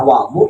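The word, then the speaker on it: وضوء: Artinya kalau dibaca wadu itu namanya nama air. Nama air. Tapi kalau dibacanya wudu itu adalah ismul lil fi'li. Itu adalah nama untuk satu pekerjaan.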